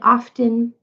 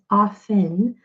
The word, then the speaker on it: often: a great suggestion so this word often is actually pronounced often this T some people say often but it's correctly pronounced as often and this T isn't even supposed to be pronounced at all let just put a